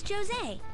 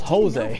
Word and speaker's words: Josie: yeah my name is Josie I'm looking for flowers okay it is so much pronounced with a J I thought it was Jose people just come here